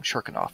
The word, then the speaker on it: Cherkanov: Cherkanov, not Chekhov.